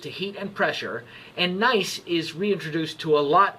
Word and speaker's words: gneiss: Now, we have looked at gneiss before. Gneiss is spelled G-N-E-I-S-S.